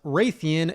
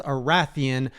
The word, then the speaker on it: Rathian: the first is that it's not pronounced raytheon it's arathian and the next is little